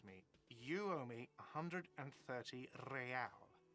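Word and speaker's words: réal: you owe me 130 real he pronounces the r with a mock aristocratic act or inter-issulary real is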